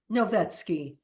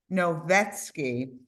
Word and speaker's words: Novetsky: you please say your last name for us novetsky novetsky uh she's an abstract painter who used bolds